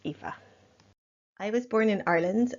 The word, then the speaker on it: Aoife: hi it's Aoife here I'm just gonna give you some background on me and introduce my thesis project yeah just ignore the spelling it's pronounced Aoife I was born in Ireland and I come